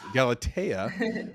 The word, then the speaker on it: Galatea: You got to throw that the accent on on there, you Gal Galatea, which is I believe the num like the number one reading app in the app store right now, which is insane.